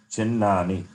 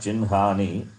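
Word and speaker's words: चिह्नानि: Or nakara can be pronounced first even though it comes later.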